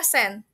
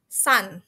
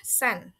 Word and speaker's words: sand: some words ya, kayak tadi s harusnya harusnya send berpronounnya bukan berpronounnya I pronounce it as sun ya tapi yang benar adalah sen atau pasir ya. Saya kira ini eh matahari tapi ini pasir ya, sand ya, bukan sun.